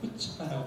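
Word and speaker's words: chutzpah: 앞에 C를 발음하지 마세요. 그럼 후츠파라고 발음이 되죠?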